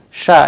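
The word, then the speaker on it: ш: how they are pronounced shah as in shoes a sample russian word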